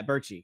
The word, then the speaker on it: Bertschy: Yeah, Bertschy.